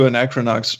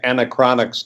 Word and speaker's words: Anachronox: which by the way it's a hard word to pronounce this English is your second language thank you yeah I can't count the number of times people said Anna chronixx to me but oh oh [